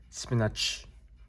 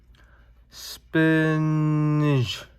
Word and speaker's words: spinach: I have to confess that I always pronounce spinach as spinach with ch in the end, but I figured out it's not. So as we can see from here, right there, spinach. So it's a j in the end, not ch.